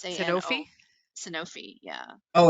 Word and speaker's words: Sanofi: Yeah, that's yeah, I always forget how to pronounce this drug name. Sanofi.